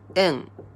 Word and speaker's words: 円: Or this kanji is also pronounced en in Japanese.